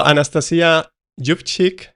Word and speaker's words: Anastasiia Yuvchyk: So Anastasiia Jubchik, right?